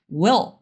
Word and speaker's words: will: E esse som vem por causa do som do L, que a gente vai fazer lá no fundo da garganta, mas não se preocupe, falaremos disso na aula de pronúncia. E esse moço aqui, ó, will, ele faz com que, esse L faz com que o som desse I fique mais grave, porque a gente abre espaço na boca e as coisas ficam mais graves.